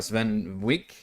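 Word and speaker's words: Swen Vincke: GameSpot ran or an interview sorry with uh Sven Wick actually pronounced his name uh of Laren Studios and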